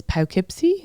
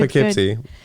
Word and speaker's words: Poughkeepsie: now I'm going next place I'm gonna is Poughkeepsie on Friday oh wow so it's Poughkeepsie it's